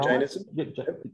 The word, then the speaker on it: Jainism: And you mentioned Jainism. Did I pronounce that right? Yeah, Jainism.